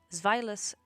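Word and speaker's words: Zweilous: Pokémon are pronounced with I'm pronouncing them with the German pronunciation as they contain the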